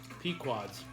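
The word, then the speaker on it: Pequod's: I was right, it's pronounced Pequods. And you're making fun of me. Pequods.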